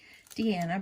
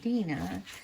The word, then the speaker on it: Dina: going to remember to call me Deanna, because that's not my name. My name is pronounced Dina.